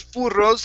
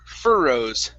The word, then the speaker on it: furrows: saying okay instead of furrows it's fur furrows remember even if there are two r's we only pronounce one okay so this is fur furrows for rows try that